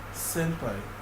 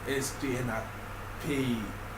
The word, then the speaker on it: S3ÑPÅÏ: So it's basically like S because the name of my how to pronounce my name is Senpai.